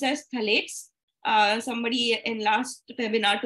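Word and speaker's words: phthalates: p h a t h a but it's pronounced as thalets uh somebody in last webinar only about this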